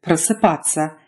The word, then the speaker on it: просыпаться: If you run into t, s, ya or t, s, ya together, they're pronounced tsa, as in просыпаться and расписаться, rather than tsa.